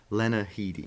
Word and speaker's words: Lena Headey: The one with the singer guy, Carl, the non-singer guy, and Lena Headey. Is it? I don't know how to say her name either. What is it? Headey? Yes, Lena Headey.